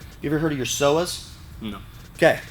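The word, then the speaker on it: psoas: ever heard of your soas no okay your soas PS o a is how it's spelled and what they are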